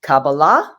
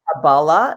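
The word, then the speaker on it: Kabbalah: cabala first of all it's cabala in Thea modern Israel Hebrew or it's cabala it's you can't you can't say it wrong uh well you could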